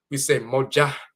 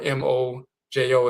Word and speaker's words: mojo: We say this is a Moja bag. They started writing a Moja bag, M-O-J-U-H, or M-O-J-O, and saying a mojo bag, and it became pronounced a mojo bag.